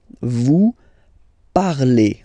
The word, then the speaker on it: parlez: Vous parlez. Okay, remember a Z, when you combine them together, you get the sound E.